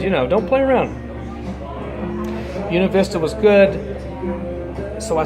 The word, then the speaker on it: Buena Vista: So I hiked on down to Buena Vista, not Buena Vista like it's spelled, but Buena Vista. You know, you got a little accent around here.